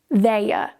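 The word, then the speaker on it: they're: So on its own, this contracted form is pronounced as their, their. No R at the end. But to link it together to the next word, in this specific case, we add a R.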